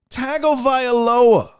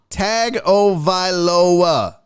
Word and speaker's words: Tagovailoa: When you say Tua Tagovailoa, there is no Tongo in his name.